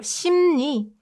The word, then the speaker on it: 심리: So instead, we make it more convenient and replace l sound with n sound. So 심리, 심리, 심리 means psychology, psychology, 심리.